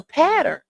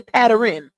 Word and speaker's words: pattern: Now it's a pattern. Not a pattern. It's a pattern because you know some people say patterning. I don't know where they get that extra syllable from.